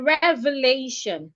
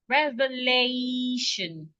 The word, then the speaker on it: revelation: According to the rule, because the word ends in TION, I should stress the penultimate syllable. The penultimate syllable is a syllable, the second syllable from the end. If I count from the end, the second syllable is LA.